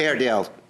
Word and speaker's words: Airedale: You are suing Philip Sava for $1,200, money that you paid to him to purchase how do you pronounce the name of that? Airedale.